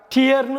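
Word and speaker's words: tear: இப்போ டிஇஏஆர், டியர்னு சொல்லலாம், டேர்னு சொல்லலாம்.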